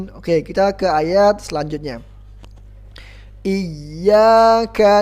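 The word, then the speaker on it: إِيَّاكَ: Seolah hamzanya dibaca panjang, padahal hamzanya dibaca pendek, cuman ya-nya ada tasydidnya. Jadi iyyaka, ingat, diayunkan. Dalam istilah ilmu tajwid namanya nabar. Iyyaka. Jadi bukan iyyaka. Ingat, diayunkan, suaranya ditekan. Iyyaka, bukan iyyaka.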